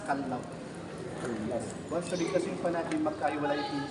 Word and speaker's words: Callao: kind of bird the off but the correct pronunciation it's kallaw once kasing pan magkahiwalay c then l o